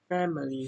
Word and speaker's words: family: Family. Here, we stress the first syllable.